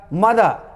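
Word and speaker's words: mother: लेकिन बोलाएगा समय में, बोलने समय में आपको रॉ को साइलेंट के बराबर कर देना है, नहीं के बराबर कर देना है, नाम मुंह में छोड़ के, ए कुमार, राइट ना। हल्का सा बोलना है आपको, पूरा जोर देकर नहीं।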